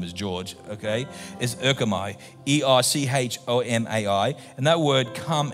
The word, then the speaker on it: erchomai: That word come in Acts 1:11 in Greek, and I'm not very good at pronouncing Greek unless his name is George, okay, is erchomai, E-R-C-H-O-M-A-I.